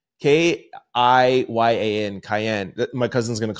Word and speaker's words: Kiyan: Here's a clip of I think it's pronounced Kiyan. K-I-Y-A-N, Kiyan.